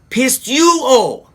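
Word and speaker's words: πιστεύω: Now, this word in Greek, and I'm going to do my best to pronounce it, is pronounced pisteuo.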